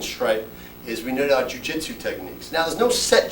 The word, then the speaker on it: jiu-jitsu: The word, a good way to remember jiu-jitsu and a good concept that we have is jiu-jitsu is 3 syllables.